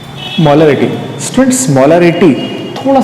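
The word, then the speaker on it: molarity: मोलैरिटी students, मोलैरिटी थोड़ा सा एक बात ध्यान दें, प्रोनाउंसिएशन में मोलैरिटी, मोलैरिटी, थोड़ा सा इसमें मैं इसको स्लोली पढ़ रहा हूं आपके लिए ताकि आप कहीं गलती ना कर दें, क्योंकि एक नेक्स्ट टर्म हमारे पास और भी है जो हम मोलैलिटी कहते हैं, इसलिए थोड़ा प्रोनाउंसिएशन में हमें प्रॉब्लम ना हो।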